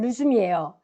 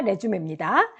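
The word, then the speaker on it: resume: 재개하다, 되찾을 때는 루즘이에요. 명사일 때가 레주메입니다.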